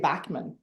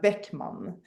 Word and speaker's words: Backman: Because I do have in the Swedish, I have two dots over the A, and it's Right. pronounced ä. So in the Swedish, it would be Beckman, but in American or English, it would be just Backman, I think.